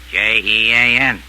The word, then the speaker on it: Jean: the fallacy now look how do you spell the French name Johan j e a n and how do you pronounce that in English Jean there you are you